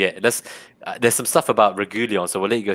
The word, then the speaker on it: Reguilón: It's Reguilón. Yeah, this is the show where we always get the pronunciation right, unless Reguilón.